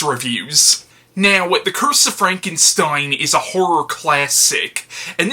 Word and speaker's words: Frankenstein: Like, every time I pronounced the word Frankenstein, I was saying it as Frankenstein. Again, something I wasn't really consciously aware of, and when I became aware of it, it was deeply embarrassing to be a grown-ass adult who knows how the name is spelled, and yet I'm still saying it with the N sound in a bunch of